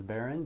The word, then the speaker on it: Berin: My email is Berin, B-E-R-I-N. I know it's spelled a little bit different.